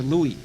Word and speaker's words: Louis: Yeah, George Alexander Louis, spelled like Lewis, but it's pronounced Louis.